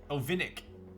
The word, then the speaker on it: Ovinnik: i had already received it can you pronounce the name for me ovinik it is a slavic cat see a little